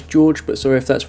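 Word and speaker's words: Đorđe: of Googling, and although it looks to me like the name is D-O-R-D-E, I think it's actually pronounced as George, but sorry if that's wrong.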